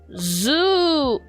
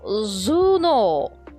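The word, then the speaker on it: 頭脳: Zoo. No. Zuno.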